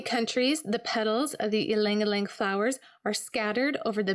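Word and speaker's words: ylang-ylang: Ylang ylang. This one's a powerful aphrodisiac. Ylang ylang, also commonly pronounced ylang ylang, is a bright, sweet floral oil that grows on the Young Living farm in Ecuador.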